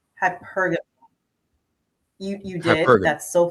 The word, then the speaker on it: hypergamy: Well, I don't want to mispronounce it. Hypergamy. Hypergamy. What is that? Is that am I saying it right? Hypergamy.